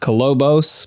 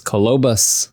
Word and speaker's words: Kolobos: film from 1999 called colobus which I thought was pronounced colobos but it's colobus it looks like colobos but they keep saying cus cabus cabus from